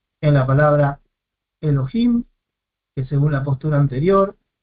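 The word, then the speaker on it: אֱלֹהִים: que yo utilizo generalmente, es Elohim, tres sílabas. Acá tenemos un Hatef Segol, es un Sheva compuesto, una E corta, muy breve. Entonces, si la consideramos como una vocal que puede tener su propia sílaba, Elohim, tres sílabas, pero según este criterio divide en dos, Elo y Him, porque considera una vocal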